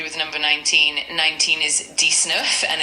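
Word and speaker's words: dix-neuf: 19 is dnf and it's spelled D I X N E UF.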